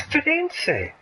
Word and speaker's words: Firenze: Florence, we don't call it Florence in Italian. It's Firenze. It should be called Firenze, not bloody Florence.